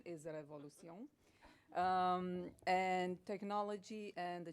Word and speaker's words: Révolution: about Revolution so please Revolution is not Revolution is Revolution um and technology and